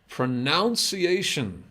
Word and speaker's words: pronunciation: Now, not anymore, but pronunciation.